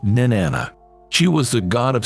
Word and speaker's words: Nin-anna: in sumarian mythology in suan she is usually pronounced Nana she was the God of Sex reproduction and